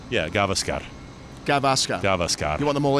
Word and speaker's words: Gavaskar: You don't lean on any you don't lean on any of the syllables. They're all equal, so it's Gavaskar.